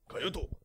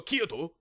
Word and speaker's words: Kyoto: Kyoto. They don't call it... Japanese people don't go Kyoto. They go Kyoto.